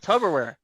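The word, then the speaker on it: Tupperware: are you talking about tub orware sounds like tub aware like a bathtub you know that you're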